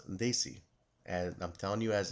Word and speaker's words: Desi: the bass they see hit squad remember it's pronounced they see and I'm telling you as a guy with South Asian descent here the word is they see not desi as Josh Mathews likes to call they see